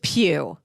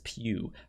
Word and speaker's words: Pugh: say her her name it is pew pew florence pew her character uh is